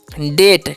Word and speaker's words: debt: ठीक है, और DEBT है, तो इसे डेप्ट पढ़ेंगे नहीं, इसे पढ़ना है डेट। क्या पढ़ना है, डेट पढ़ना है। यहाँ पर बी साइलेंट है, सॉरी गलती से रेड हो गया टी।